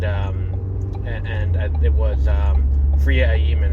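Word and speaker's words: Freema Agyeman: and it was um friia aiman I think is how you pronounce her name uh who played Martha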